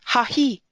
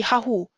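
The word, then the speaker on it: ההוא: So for example, the last word in this line is hahi, but you can imagine in a Torah scroll where you don't have the vowels, it would look like as if it would be hahu, but it isn't.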